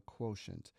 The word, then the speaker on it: quotient: answer to my division question is called a quotient kind of a strange spelling quo T N